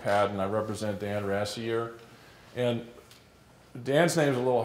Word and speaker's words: Rassier: here I'm Pat and I represent dan rassei year and Dan seems a little hard to pronounce that the way you can think about